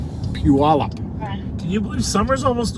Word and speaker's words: Puyallup: can you believe it I'm told it's pronounce Puyallup Puyallup can you believe Summer's